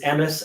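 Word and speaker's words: Emes: It's called Emmitt, but it's spelled Emmitt, and people have been pronouncing it Emmett as the name. No, the word is Emmis, and it means truth.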